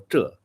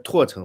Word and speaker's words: 柘: 那个柘，这个很少有人读对，包括我们河南省里面的人，都都会念成拓城或者石城，这个反